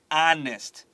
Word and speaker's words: honest: to my pronunciation here honest honest that's right cross out the H above honest so you don't forget